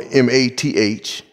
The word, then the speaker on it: mathetes: Okay, the word disciple in the Greek, number 3101, is pronounced, or M-A-T-H-E-T-E-S.